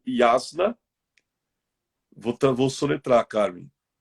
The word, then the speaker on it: Yasna: Para indo para a conclusão, nós temos também o Yasna. Vou soletrar, Carmen. Y-A-S-N-A. Yasna. Yasna.